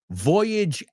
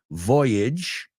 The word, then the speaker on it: Voyage: Voyage Out. Vamos a pronunciar eso también. Voyage, no voyage. Voyage Out.